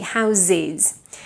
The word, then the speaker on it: houses: my face says red the houses big house ends in a voiceless s house however when you make the Perl it becomes voiced actually houses but if it's just